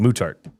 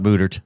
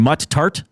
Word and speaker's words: Muttart: Mutart mutart. Not mutard. Mutart mutart. The mutart conservatory. But and now I I've heard it pronounced so many different ways and people are correcting each other now. I can't remember what the right way is. Yeah. It's supposed to be muttart.